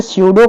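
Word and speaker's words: pseudo: S silent होता है sorry सूडो में क्या साइलेंट होता है पी साइलेंट होता है पी इसमें साइलेंट होता है पी आगे लगता है उसके बाद एस य डीओ होता है याद रखिएगा अगला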